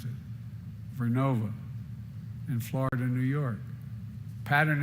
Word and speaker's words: Vernova: Arcosa makes wind towers that's going to go into turbines made by GE Vernova. I mispronounced it. Vernova in Florida, New York.